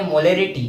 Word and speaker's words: molarity: आ रहा होगा, मोलिलिटी, एक में मोलिरिटी दैट मीन्स A का प्रोनाउंसिएशन आ रहा होगा। तो इस तरीके से आपको